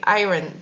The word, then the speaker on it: iron: because of the high iron that is in in it you're not supposed to pronounce the r it's iron don't tell me how